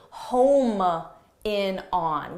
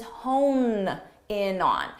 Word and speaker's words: hone in on: The expression is hone in on. So make sure you get that both in pronunciation, hone, and in spelling as well.